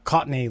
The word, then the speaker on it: Cockney: It's not quite as harsh on the eardrums, And you pronounce Cockney like cock and knee, right?